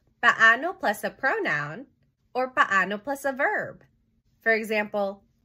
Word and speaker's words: paano: Take note of the pronunciation. When there are double vowels in Tagalog, you say each vowel sounds separately. Paano.